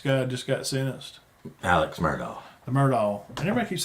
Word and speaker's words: Murdaugh: It's Alex Murdaugh. Chulus. Well, somebody else told me the other day his name's they pronounce it Alec.